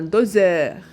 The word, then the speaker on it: doseur: S كنطقوها Z entre deux voyelles. جسمة بين O et E. donc un doseur.